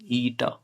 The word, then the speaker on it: eta: Eta. Eta is a Greek word.